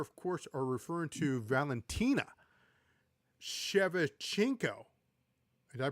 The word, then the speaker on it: Shevchenko: We are, of course, referring to Valentina Shevchenko. Did I pronounce that? Shevchenko.